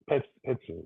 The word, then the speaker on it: Petzing: Petzing.